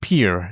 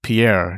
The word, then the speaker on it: Pierre: Everyone knows how to pronounce New York City, but you didn't even know that this is pronounced Pierre instead of Pierre, did you?